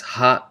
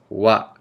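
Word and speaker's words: は: the hiragana hot but instead of pranced pronouncing it as hot it is Wow okay I don't know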